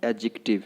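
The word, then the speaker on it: adjective: पूरा तोड़ के बोलना नहीं है यहाँ पे, इसको क्या बोलना है? एडजेक्टिव, है ना।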